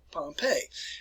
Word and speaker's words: Pompeii: city which is called pompeii that's where it's pronounced and you know don't confuse it with the pronunciation of pompey poppy the great who was